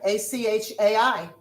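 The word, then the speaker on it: אח: A-C-H-A-I. Okay. Akai. How do you say brother? Ach. A-C-H.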